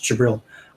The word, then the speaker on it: Jabril: So the D is silent. Well, no, it's a subtle pronunciation. Okay. So it's like the TZ sound in a lot of the Middle Eastern. Okay. Yeah. It's Jabril.